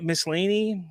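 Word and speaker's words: Maslany: foremost uh Tatiana malane miscellany I think is how you say her name she is absolutely great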